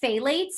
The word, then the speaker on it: phthalates: never pronounce this but it's like a weird beginning that makes me sound like i have a lisp it's like p-h-t-h a-l-a-t-e-s if someone wants to